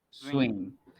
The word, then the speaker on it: swim: Swim. La W suena como la U nuestra.